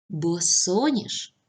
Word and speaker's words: босоніж: паузу і попрацюйте так дуже добре перевіряємо отже босоніж наголос на другому складі завчасно наголос на останньому складі